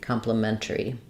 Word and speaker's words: complimentary: we'd have compliment mentary complimentary M complimentary um we also I think sometimes rather than saying erri complimentary um we might just go complimentary um with losing a syllable there in which case we